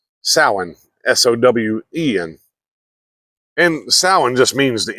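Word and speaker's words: Samhain: 5 BC with the Celtic Pagan celebration called sinan now it's spelled s m ha a i n but it says it's pronounced s sin s o Wen and sa just means the end of summer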